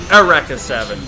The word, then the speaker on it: Eureka Seven: down kill them well it's Eureka Seven it's how it's spelled but it's pronounced a wreck of seven great anime series Mecca